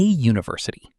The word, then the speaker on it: university: But when you say it, it starts with a sound like you. That's a consonant sound. So we say a university, not an university.